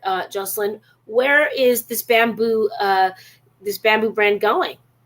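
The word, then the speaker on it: Babanu: please all right guys here it is bamboo but it's spelled b-a-b-a-n-u yeah and actually like it's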